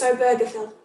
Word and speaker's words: Obergefell: Y para la gente queriendo decir la palabra, el apellido Obergefell, yo tuve que mirar cómo se pronuncia. It's Obergefell.